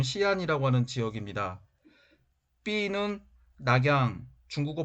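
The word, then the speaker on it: 西安: A는 전한과 수당의 수도였던 장안, 현재 지명으로는 서안, 중국어 발음은 시안이라고 하는 지역입니다.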